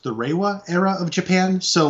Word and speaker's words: Reiwa: Yeah, and because now we're in I believe it's pronounced the Reiwa era of Japan.